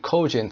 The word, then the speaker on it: cogent: It's a wonderfully clear and cogent thesis. Cogent استرس روی cogent تلفظش کنین یعنی مستدل قانع کننده.